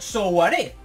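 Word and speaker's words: Souaré: Vale, y por cierto, me han dicho que Souare se pronuncia Souare. Y es verdad, porque tiene tilde en la última E, pero bueno.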